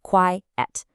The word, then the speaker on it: quiet: Quiet has two sounds, two syllables. Quiet. That means no noise. But quite has just one sound, one syllable. Quite. And that means fairly or rather.